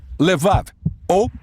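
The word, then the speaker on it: לב: Coração, que em hebraico se pronuncia levav, na sua forma curta, lev.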